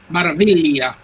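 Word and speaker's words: Meraviglia: Maravilla. That would. The G is kind of pronounced as a Y.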